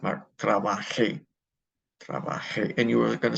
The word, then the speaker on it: trabajé: But for the preterite, okay, for the yo and the ellos, okay, forms, the accentuation will be on the last syllable.